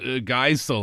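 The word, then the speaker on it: Geisel: uh Theodore Zeus Geel, I think is how you pronounce his last name.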